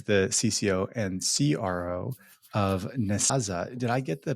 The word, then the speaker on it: Nezasa: Do they pronounce it in a very firm, adamant way? Like, yes. Nezasa.